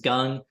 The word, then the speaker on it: Gung: And so for those of you that don't know me, my name is Gung. It's pronounced like gung ho.